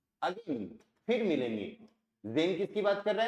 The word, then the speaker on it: sehen: एस का sound जय, क्यों? एस के बाद वोवल आ रहा है। ई का ए, एस साइलेंट रहेगा, और ई एन का क्या बन गया? अन, तो क्या बोलेंगे? जेन।